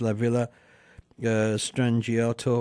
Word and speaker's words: La Villa Strangiato: One of the songs that we're going to be playing is La Villa Strangiato, and I can't say it, but everybody else probably knows what it is as well.